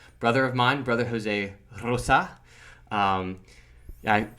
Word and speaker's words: Rosa: We got Rosa with like the hard Z sound, but it's spelled with R-O-S-A.